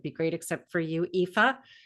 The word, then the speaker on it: Aoife: great, except for you, Aoife. And that is how you pronounce her name, by the way. If you're looking at it going, how do you pronounce that? That is how you pronounce it.